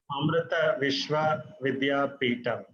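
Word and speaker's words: Amrita Vishwa Vidyapeetham: Could you please pronounce the name of your university so that it's correct? It's Amrita Vishwa Vidyapithan.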